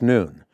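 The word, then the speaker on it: نون: letter of the Arabic alphabet on it pronounced noon and it's a symbol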